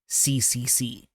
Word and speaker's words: CCC: out loud fascinating so it's written as imaginary spiritron pit it's lettered curse cutting crater but it's pronounced CCC and the CCC is